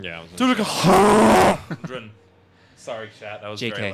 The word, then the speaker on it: dodecahedron: Now that how I made it in my head, it's a dodecahedron. So it's like it's like panels of pentagons. It's actually pronounced dodecahedron. Yeah. Dodecahedron.